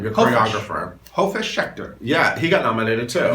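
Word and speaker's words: Hofesh Shechter: Hofish Schechter.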